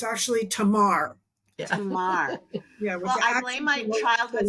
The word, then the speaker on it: Tamar: the story of and I'm going to say it wrong because this is how I learned it in Sunday school was Tamar which is probably really wrong but it's her Tomar how wrong can you